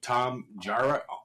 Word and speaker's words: Tom Jarrett: And today, uh, we have Tom Jara here on. Is that pronounced that right, Tom?